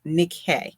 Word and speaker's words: Nikkei: And I know it looks like Nike, but I swear to you, it's pronounced Nikkei.